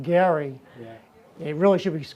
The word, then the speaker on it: Gerry: Even though his name is actually pronounced Gary, it really should be called gerrymandering, but it's gerrymandering.